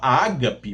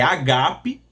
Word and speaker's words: agape: O o o agape, que há muitas pessoas pronunciam errado, fala ágape, mas tá errado. Não é ágape, é agape, tá? Não tem o acento que eles colocam ali no no primeiro Ai, não existe no grego, tá?